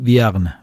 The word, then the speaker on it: Vierne: a escuchar ahora Luis Viagn V es como viernes pero sin la sgn.